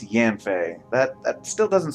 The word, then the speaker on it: Yanfei: Okay, so from her spelling, I would have thought it's pronounced Yanfei, but apparently it's Yanfei.